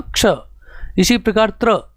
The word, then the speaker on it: क्ष: प्रभाव पड़ता है, इसलिए कोई इसको छ पढ़ता है, कोई इसको क्ष पढ़ता है। तो इसका सही उच्चारण होगा क्ष, जिसमें पहले क और उसके बाद स, तो उच्चारण इसका क्या हो जाएगा, क्ष।